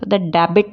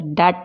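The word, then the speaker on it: debt: ये साइलेंट रहता है जैसे कि आप ज डेबिट नहीं बोलते डब नहीं बोलते डट बोलते हैं डाउट नहीं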